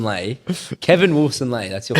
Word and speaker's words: Lay: We have Kev of what? He's completely butchered your name. Kev. I mean Kevin Wilson Lay.